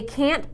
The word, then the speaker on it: can't: Yes, I said can. There was no long A sound. They can't buy it there.